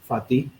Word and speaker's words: Fatih: Yeah, it is Fatih. That's correct. Like that's how you pronounce it.